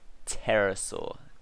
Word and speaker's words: pterosaur: Then we've got the Deinonychus, the pterosaur, not pterosaur, pterosaur, the P is silent.